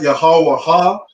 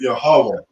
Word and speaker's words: Yahweh: So it's not Yahweh Ha. The Wa and the Ha connect, so we pronounce it Yahweh.